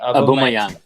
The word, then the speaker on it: Aubameyang: Aubameyang.